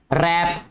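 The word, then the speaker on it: wrap: रैप, रैप आपने daily basis पे सुना होगा, रैपर, ठीक है। लुपेटना, लुपेटना होता है जिसमें W बेटा साइलेंट है।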